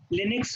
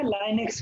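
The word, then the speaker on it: Linux: लिनक्स होता है या लाइनक्स होता है? कुछ भी, आपको लिनक्स बोलना है और लाइनक्स बोलना है, दोनों प्रोनाउंसिएशन हम यूज करते हैं ना सर, कभी कभी नहीं कहता, कोई कुछ कहता है, कोई कुछ कंफर्मेशन नहीं। बता दो, चाहे आप लाइनक्स बोलो या लिनक्स बोलो, दोनों प्रोनाउंसिएशन आपके यूज होते हैं।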